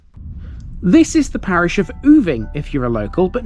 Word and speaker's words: Oving: in West Sussex now the locals around here apparently pronounce this place different to how I would now I would pronounce this place moving and throughout this episode I may refer to it as other but I have it on good authority that this is the Parish of oovi foreign here's my